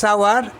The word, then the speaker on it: hour: He came dash আওয়ার এগো, এখানে এইচ এর উচ্চারণ অ এর মতো হচ্ছে, আওয়ার, HOUR, অ এর মতো হচ্ছে, তাই এখানে অ্যান বসলো, হি কেম অ্যান আওয়ার এগো।